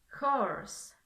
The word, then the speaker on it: horse: Aquí igualmente se escribe con H, pero como en el español, esta es muda, pero en el inglés no lo es, ya que se pronuncia como con una J.